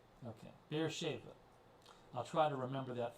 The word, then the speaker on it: Beersheba: Let's I'm looking for a pronunciation here. Beersheba. Beersheba. Okay, Beersheba.